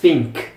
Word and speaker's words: think: To think significa pensar. E tem também no começo esse TH aqui. E esse fonema de TH é realmente pronunciado de uma maneira bem audível, é think.